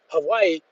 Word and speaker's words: Hawaii: Hawaii, and a part of Maui that he said most tourists never see it.